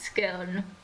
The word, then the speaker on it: scone: tea drinking, scone eating, posh people who are Scone. ever so polite. Aren't you? Admittedly, It's pronounced scone.